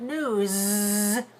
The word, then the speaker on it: news: on the radio but notice this word news with Z voicing at the end the news is a